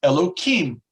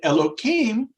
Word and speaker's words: Elohim: god so i will distort the name is pronounced elokim and elohim in its numerical value equals the word in